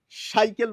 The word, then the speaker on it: সাইকেল: সাইকেল বলবো না।